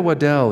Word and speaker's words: Waddell: Will you pronounce your last name? You said it right. I did. Okay, good. Good job. Thank you. Amanda Waddell here in Loveland asks,